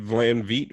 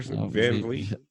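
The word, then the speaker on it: VanVleet: Fred Van Vliet, whatever. Van Vliet. Yeah, we got to pronounce his name right first.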